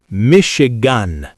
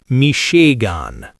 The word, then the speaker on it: Michigan: Four syllables. Stress on chew. Michigan. Michigan. Not mishean.